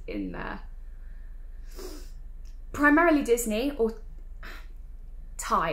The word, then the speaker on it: Ty: 90s in suitcases in there primarily disney or thai it's called thai i know it's t y but it's actually pronounced yeah so anyway we're going to start